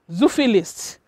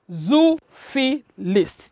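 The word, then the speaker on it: zoophilist: known as a zuphilist let's pronounce it together zufi list zoo fee list just break it down into syllables and you have the word zuvilist and you have the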